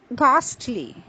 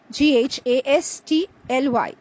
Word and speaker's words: ghastly: the next word is ghastly g-h-a-s-t-l-y the H sound is not produced the H remains silent it is ghastly this